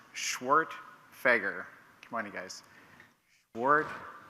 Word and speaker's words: Schwerdtfeger: who might be curious my last name is pronounced schwart fager come on you guys